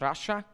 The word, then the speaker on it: Russia: anounced like a country my name is pronounced Russia it's like the country I'm not from Russia